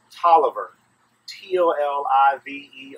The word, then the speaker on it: Taliaferro: probably another French word Taliaferro that sounds French but we don't pronounce it that way we pronounce it Toliver pol I ve R